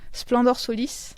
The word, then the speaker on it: Splendor Solis: Rappelle-nous comment tu le prononces. Splendor Solis.